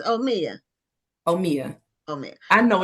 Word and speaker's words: Omia: It's just, I had Omaya in my mind already. And so I had to restructure my mind that it's Omia.